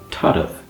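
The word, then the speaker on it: tarbh: So the word tadav sounds like there's a little between the tad and the v. And that is epenthesis, tadav.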